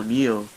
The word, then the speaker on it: Neo: Neil oh NE e l how do you spell it NE e o Neo oh Neo NE e o yeah mat okay